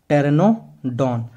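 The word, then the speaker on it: Pteranodon: से मैंने क्यों बोला क्योंकि पी से तो आपका पी साइलेंट होता है और टी से क्या होगा टेरेनो डॉन टायर मैंने क्यों बोला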